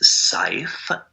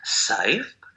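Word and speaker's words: Seif: The entity's name that you can connect with is Saif, and if you spell that in English words, Aridif says that it is shared S-E-I-F, Saif.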